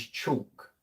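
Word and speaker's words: CIOKS: The pronunciation is chalk for Seox.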